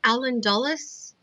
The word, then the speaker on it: Dulles: I think because I know there's a Dulles Airport that I went to once, and I think it's the same person that they named after.